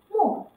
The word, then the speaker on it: 没: 其中有一个多音字，没，在出没这个词中读没，你读对了吗？